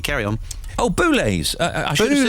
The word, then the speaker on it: Boulez: And you didn't pronounce his name correctly. Carry on. Oh, Boulez. I should have said Boulez. Yeah, Boulez.